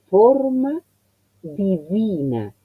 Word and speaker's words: forma divina: Forma, O, he cerrado notablemente la O, forma divina, y sobrepronuncié la V, forma divina.